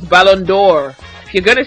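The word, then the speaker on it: Ballon d'Or: like BBA fans said it's not Balon D it's bondor if you're going to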